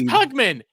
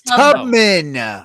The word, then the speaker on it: Tubman: but her last name is pugman Harriet pugman Tu no it's Tubman Tubman but they they